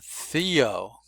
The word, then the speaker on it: Theo: Now do you hear the difference of these th's? Theo is breathy and takes no sound with it. And Heather has a vibration of a sound with it. So this is called voiced and unvoiced.